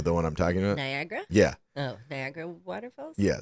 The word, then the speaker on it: Niagara: Niagara Falls.